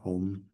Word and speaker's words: Om: The first syllable Om actually is composed of like kind of three sounds: A, U, and Ma. So together, Om.